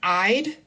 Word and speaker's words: I'd: apostrophe with the D, this word I'd it rhymes with hide or side.